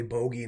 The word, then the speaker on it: bogey: want to pronounce it, I know it's British so it's probably bogey, not boogie like we say over here, made out of actual